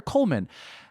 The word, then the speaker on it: Coleman: cold men is it is it Goldman or Coleman and there's this Nathan Lane face because oh yes Coleman the D is silent in America it's called de Lomo